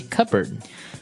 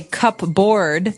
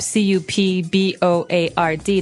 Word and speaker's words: cupboard: pronounced cupboard okay so even though it may seem like you should pronounce cup board the correct pronunciation is cupboard cupboard cupboard and a